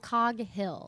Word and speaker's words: Coghill: Do you say Coghill? Coghill.